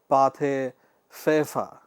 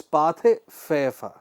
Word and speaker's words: Pathé Frères: company faced competition from the aggressive and monopolistic Pathé Frères.